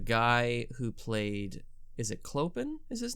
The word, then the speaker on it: Clopin: And I remember that the guy who played, is it Clopin is his name? Am I pronouncing that right? Yeah. Clopin.